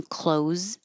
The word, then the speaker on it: clothes: They just are spelled completely different, but I bought new clothes. Close the door sound the same.